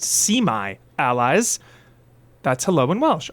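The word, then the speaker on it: Su'mae: So, it's pronounced semi allies.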